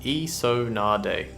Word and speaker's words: Isonade: Water Elemental, pronounced Isonade.